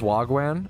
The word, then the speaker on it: wagwan: It's pronounced Wagwan.